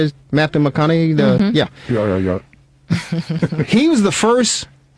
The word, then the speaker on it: Matthew McConaughey: Matthew McConaughey?